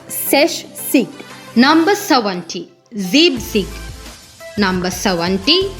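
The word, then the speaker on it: sechzig: So beware of the pronunciation here. It's not Sexig, it's Seshsig.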